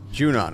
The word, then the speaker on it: Junon: they're headed to is that junar gener territory junan okay that's how you say it come on